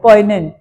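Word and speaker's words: poignant: पी ओ आई जी एन ए एन टी द जी is silent. पोइनेंट right anything else पोइनेंट is gloomy.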